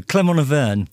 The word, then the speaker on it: Clermont Auvergne: How do you pronounce it correctly, Chubby? Against? Humongous? Oh, sorry, no. Clermont Auvergne.